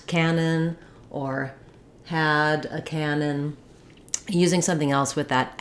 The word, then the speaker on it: canon: is a large gun they both have the same pronunciation which has first syllable stress and letter A says the a vowel so you can remember that by pairing it with a word like that Canon or had a